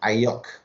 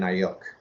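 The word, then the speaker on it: Aiyuk: It's Brandon Ayuk. Ayuk.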